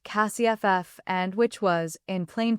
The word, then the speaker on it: CSF: I had developed the client acquisition sequencing framework, internally called CSF, which everyone pronounced CASIFF, and which was, in